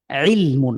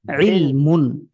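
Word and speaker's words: عِلْمٌ: ইলমুন, আইনকে আরো আমরা যদি আরো একটু কণ্ঠের ভেতর থেকে উচ্চারণ করি আরো সুন্দর শোনাবে। ইলমুন।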